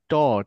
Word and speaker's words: taught: ইয়েস, টট, এই যে learning Taught দিয়ে যে বলছেন, English.